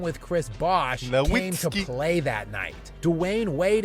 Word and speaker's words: Nowitzki: In German, the W is pronounced a V. So Nowitzki.